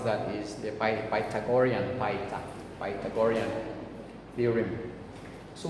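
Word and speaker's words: Pythagorean: have yesterday what was yesterday what's yesterday some pronounce it as titagoras but uh the right uh way to pronounce that is by tagorian paita by tagorian theorem so what is that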